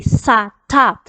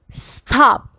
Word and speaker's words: stop: not you it's wrong this one is only one syllable you say stop stop stop it's not is already two syllables on top so you say sa ta it's already two syllable